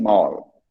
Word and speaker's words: mall: mall m-a-l-l-e small shopping mall mall here we go the tongue slowly goes to the side for me mall okay water water not